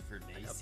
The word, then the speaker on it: Furness: It's actually pronounced Furnace.